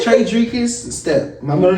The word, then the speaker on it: Tredricus: Tredricus. It is Tredricus. Tredricus. Not cuss. You can say cuss, but it's kiss.